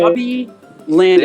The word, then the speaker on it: Robbie Landis: Yeah, but- Robbie Landis. Hey, Roz, thanks for playing. R-O, so it's spelled ROBBIE_LANDIS.